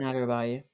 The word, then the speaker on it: Adarabioyo: It was, yeah, and you got Tosin Adebayor. I think that's how you pronounce it. Tosin Adarabioyo.